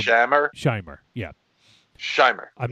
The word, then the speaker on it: Shomer: Shomer. Shomer. Shomer, yeah. I think it's well, it sounded like a long A, so it might have been Shamer.